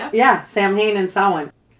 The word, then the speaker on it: Samhain: So, it is pronounced sin, not Sam Hayne, despite what the Winchester brothers taught us.